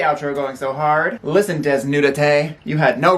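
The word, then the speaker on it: Desnúdate: Desnudate. Like, obviously it sounds white when I say it, but let's hear it. Okay. Okay, so it is Desnudate.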